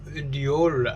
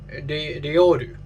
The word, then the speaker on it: Reol: the day, and that would be the new Reol album, Black Box. Wait, hold on. How do you actually pronounce this? Reol.